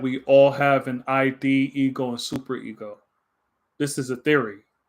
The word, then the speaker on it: id: Um, from what I read, it said that id, if I'm pronouncing it right, or no, you said rhymes with hid.